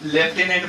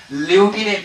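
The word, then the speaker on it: lieutenant: भाषा में जानते हैं, हमारे देशज लैंग्वेज में आप लेफ्टिनेंट बोलते हैं, मगर इनका प्रोनाउंसिएशन जो है ना ल्यूटिनेंट होता है।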